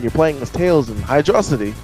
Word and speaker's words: Hydrocity: As the same thing for Tails, like saying the same thing with Hydro City or Hydrocity, where You said it right the first time.